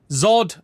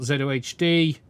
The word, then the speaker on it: ZOHD: are alternatives out there Zod I think this is pronounced someone said earlier not zohd so what we got let